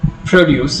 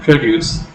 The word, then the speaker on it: produce: For example, produce as a noun and produce as a noun and produce as a verb.